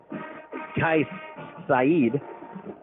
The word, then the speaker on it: Kais Saeed: Number 27, I'm being told it's called, his name is pronounced Kais Saeed.